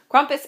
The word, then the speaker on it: Krampus: to be talking about kumus or Krampus as it is spelled crompus is an Alpine Legend surrounding